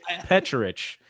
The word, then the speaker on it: Pecharich: last name and so i always say that you pronounce my last name like church that chs are like church and so the problem is is in america we always try to change the first ch to a k sound so when i